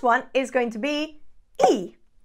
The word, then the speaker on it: y: is going to be e e means and the y in Spanish pronounced as e means and however if